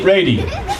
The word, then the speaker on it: Reidy: his name correctly because it doesn't sound like it's spelled but it's easy attorney Jeremy Brady I said it right